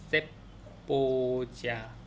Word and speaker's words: cebolla: cebolla, cebolla, cebolla. 이거는 이제 양파란 뜻이래요. C-E-B-O-L-L-A. 그래서 LLA이기 때문에 야인데 앞에 지읒이 살짝 들어갔다고 생각하면서 야 그렇게 하면 된다.